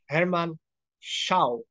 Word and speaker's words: Herman Chow: connect and uh we have honored guest uh Herman Xiao is it correct the pronunciation of your name yes correct well done